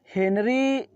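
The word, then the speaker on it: Henery: Okay, हेनरी फ्रे said, हेनरी फ्रे कहता है दैट ही लाइक, कि वो पसंद करता है, हिज नेम, अपना नाम, टू बी स्पेल्ड, उच्चारण करना, एज हेनरी, हेनरी की तरह, नॉट हेनरी, हेनरी की तरह नहीं।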